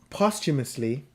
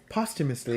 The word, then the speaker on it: posthumously: huh and I'm like post is a prefix by itself and it has its own pronunciation so that'll help you a little bit Yeah but posthumously posthumously the [ __